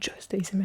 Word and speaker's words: Just ASMR: C'est juste ASMR ou c'est Just ASMR qu'on prononce? Moi je le dis en anglais, Just ASMR.